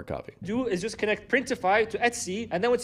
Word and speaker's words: Printify: use for this is printify and that's because it rhymes with Shopify but also because there's